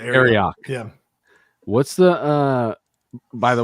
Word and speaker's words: Arioch: Is it Arioch? Arioch? How do I say it? You got it the first time. That was it. Arioch.